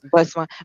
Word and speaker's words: Bhasma: Bhasma.